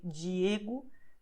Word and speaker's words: Diego: is the fact that the combinations the I, the E, well, the I always and the E at the end of the word, they have a sound that is like J in jeans. So you say Diego tarde.